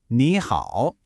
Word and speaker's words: nǐ hǎo: Both characters have what's called a third tone, which is kind of like a little dip, right? Your voice goes down, and then it comes right back up.